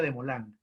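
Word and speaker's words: Desmoulins: llamado camilo de moland camilo de mola se escribe de small links se pronuncia de molango camilo de molan fue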